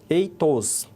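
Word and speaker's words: ἦθος: Então, escrito com essa letrinha, a pronúncia era eitos, e escrito com essa outra letra, o epsilon, era etos. Então, ele era o e curto, que se dizia etos, eitos.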